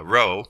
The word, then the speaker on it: rho: times cross sectional area times speed so uh rho that's how this is pronounced it's the density in air so at